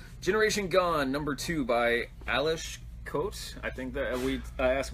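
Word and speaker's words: Aleš Kot: I've really enjoyed generation gone number two by Alice Coates I think that we asked Mila and that's how she said it's pronounced works for me Eilish coat so the whole premise of this is did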